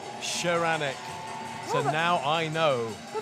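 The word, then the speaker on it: Szaranek: Don't pronounce the Z, says Dad.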